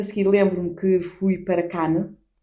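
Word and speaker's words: Cannes: Eh, eu entretanto a seguir lembro-me que fui para can. Não digam canes, porque apesar de se escrever c a n é s, não sei o s.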